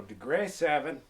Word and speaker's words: Degre 7: deg 7 degre S I do believe that's how they pronounce it they like it like it says degree but they're missing one e so degre 7 I love this suit